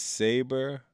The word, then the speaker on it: Sabre: No, well, Zach Sabry, man. Family Comments said Bobby Knight. Yo, that's fire. Jay Bucket said, remember he's English, Bobby, so he pronounces saber.